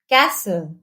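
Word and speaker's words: castle: sketch stitch वच चच जब स्पेलिंग्स में एस टी ई एन या एस टी एल ई हो तब भी टी साइलेंट होता है for example फसन listen Moin कैसल हसल विसल कुछ शब्द जो फ्रेंड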